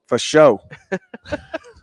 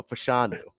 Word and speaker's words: Fashanu: For show. No, Fashanu.